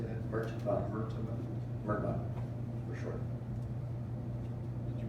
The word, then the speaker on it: MRTMA: Mertaba.